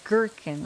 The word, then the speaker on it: gherkin: It's gherkin, right, Roulette? I remember we had this conversation about how to pronounce gherkin pickles, but I always used to say jerkin pickles.